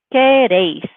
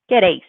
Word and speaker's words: queréis: So all together, we have queréis, queréis, and don't forget that accent on the E, queréis.